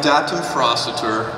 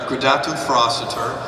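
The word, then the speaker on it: Gradatim Ferociter: pronounce that all right gatum froster that's how we pronounce it and um I'm not actually I actually have been told that's not the right way but that's the way I like to say it and um gatu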